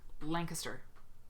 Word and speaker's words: Lancaster: yet um and i said it wrong it's lancaster i was at quilt con and i was